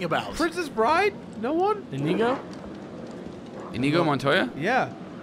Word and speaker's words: Inigo: Inigo? Inigo Montoya? Yeah. Inigo? Not you said Indigo.